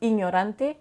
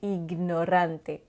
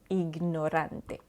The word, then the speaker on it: ignorante: Donc, on ne dira pas ignorante, mais on va bien prononcer le G, ignorante, ignorante.